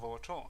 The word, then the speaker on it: Sora no Woto: Today we are going to talk about one such anime, namely Sora no Woto. It's pronounced Sora no Sky.